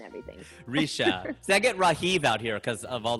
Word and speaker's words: Rajiv: hard for us because Hindi is so non-accentuated, right? There's not emphasis on syllables like here. Like here you say Rajiv or you say Rajiv if you want to use the J. But there it's Rajiv. It's just flat. Like it's not Rajiv.